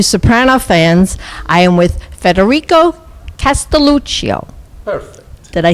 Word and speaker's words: Federico Castelluccio: I am with Federico Castelluccio.